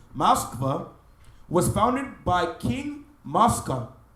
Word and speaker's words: Moskva: Moreover, according to a legend, first appearing in Kievan Synopsis, 1674, Moskva, that's how the Russians pronounce the name, Moskva, was founded by King Mosca, son of Japheth.